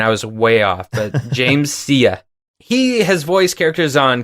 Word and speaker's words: James Sia: This actor's name is James Sia. I had to look that up because I was going to pronounce it differently and I was way off, but James Sia.